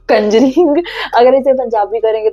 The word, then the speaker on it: Conjuring: बन जाएगी, बट हाँ, कंजरिंग थोड़ा सा इसे स्लाइटली ऐसे कॉन्जरिंग ऐसे कह सकते हैं, बट कॉन्जरिंग मैं भी पहले इसे प्रोनाउंस ऐसे ही कर रही थी।